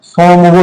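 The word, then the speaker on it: Tsomgo: हाँ, सोमगो लेक इसको बोलते हैं, टी साइलेंट रहता है, सोमगो लेक।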